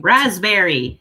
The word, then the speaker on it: raspberry: Raspberry, you don't use the P in raspberry.